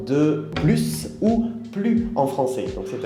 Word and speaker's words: plus: pas le s d'accord en général on ne prononce pas le s quand il y à un adjectif après par exemple quand on va dire plus petits plus grand ou plus sympa par exemple ok attention